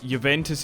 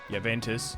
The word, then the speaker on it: Juventus: because I feel like if you want to say I don't know it's like it's with the accent or not Montpelier Granada